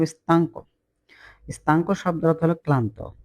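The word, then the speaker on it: stanco: অনেক ক্লান্ত এ স্তক স্তক উচ্চারণটা স্তাঙ্ক স্তক শব্দের অর্থ হল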